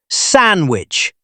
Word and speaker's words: sandwich: Look at the word sandwich. It has a D in the middle. Do we say it? Almost never. We say sandwich.